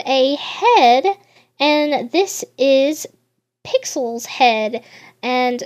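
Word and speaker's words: Pyxll: here we have a head and this is pixel's head and it's spelled as P YX l l it's pixel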